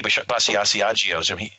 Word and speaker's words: Basiago: in exopolitics is Andy Basiago's. I know that he knows the proper pronunciation of my surname, which is Basiago.